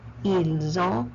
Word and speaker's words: ils ont: In ils ont, plural, I do not pronounce the S. I do not pronounce the T. I pronounce the S in the second word.